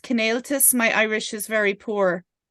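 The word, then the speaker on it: Cineáltas: Is it pronounced Cnáltas?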